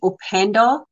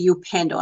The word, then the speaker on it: Upendo: if like you Endo opend I say it opend opend it's a SW word or you can say upendo a lot of people say upendo United Foundation